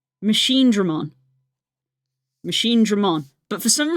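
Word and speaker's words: Machinedramon: Why are you saying it like that? There's no Y. Or E. If you're trying to say it like this, Nastria. If you're trying to say this, Dre. There's no E. Y, yeah. It's Machine Dramon.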